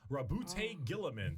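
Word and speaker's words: Roboute Guilliman: Primarch, RWBY Gilliman.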